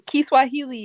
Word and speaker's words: Kiswahili: Kiswahili is how you say it in Swahili.